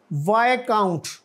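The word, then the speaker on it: viscount: इसमें क्या लेटर कौन सा लेटर साइलेंट है साइलेंट है इसमें कल और आगे वाय काउंट वाय काउंट नेलसन ये एक नवाबी का दर्जा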